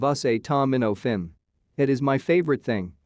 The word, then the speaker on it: acetaminophen: butchered the pronunciation of acetaminophen for way too long asa tamanoffen instead of us a tom minnow finn it is my favorite